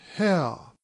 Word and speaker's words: Haigha: happy his name is how he pronounced it sirs to rhyme with mayor I love my love